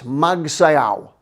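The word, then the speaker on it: magsayaw: okay one more dance this is one of my favorites magsayao sounds like mag say ow so you're dancing with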